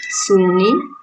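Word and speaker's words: intsony: Insuni which is pronounced Suni, means anymore, anymore.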